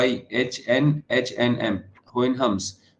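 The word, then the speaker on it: Houyhnhnms: इसकी जो first part है और लैंड ऑफ होइन हम्स स्पेलिंग देखेगी पूरी क्लास एच ओ यू वा एच एन एच एन एम होइन हम्स तो लैंड ऑफ होन हम्स क्या है इसका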